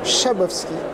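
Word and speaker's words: Szabowski: n'aiment pas les hommes qui boivent de François shabowski alors ça s'écrit zabovski SZ ça se prononce shabovski voilà vous dites à votre libard ne vous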